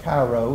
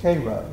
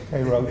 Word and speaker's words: Cairo: And uh you know down there it's not Cairo, it's pronounced Cairo. Cairo, Georgia.